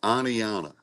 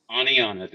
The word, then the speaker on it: Oneonta: So it's Oneonta. Oneonta. And don't pronounce the T.